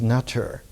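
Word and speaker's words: nṯr: it the English phonetic NTR, and usually it's pronounced in early Egyptology as Natur. But if you pronounce it without the vowels that are thrown into it, it's pronounced Ntr.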